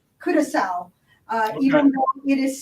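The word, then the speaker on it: curaçao: there's another blue curacao and it is correctly pronounced curacao even it is spelled like kudakau it is curacao and this is one that is even better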